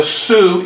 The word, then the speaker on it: Sioux: tribe today are the sioux indians now that's s-i-o-u-x that's how it's spelled but it's pronounced like the young lady's name so we have the